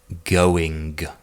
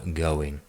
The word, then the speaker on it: going: For example, the word going. Poles might really pronounce and emphasize that G at the end of the sentence, but it should be more of a going.